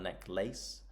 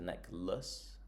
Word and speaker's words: necklace: Uh now here at the end of this word the pronunciation is a bit different. So it's not a necklace but a necklace necklace.